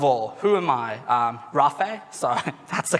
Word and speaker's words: Raafey: something first of all who am i um rafae so that's the correct pronunciation that's all good not many people get